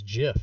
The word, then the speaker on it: GIF: you have always been wrong it is not gif is jiff and it always has been jiff the people